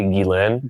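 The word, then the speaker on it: Ghislaine: I mean, just think about this is when Jane Jlane Jane, how do I how do you pronounce? It's technically Gilain.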